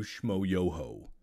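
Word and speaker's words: Schmoyoho: incredible thank you to Schmo Yoho Accent on the yo where is the ho I can't remember shoyo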